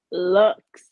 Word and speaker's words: Luxxe: said it wrong Amani looks wax Lounge right not looks looks right looks like luxury but like Lux with two x's because you gotta so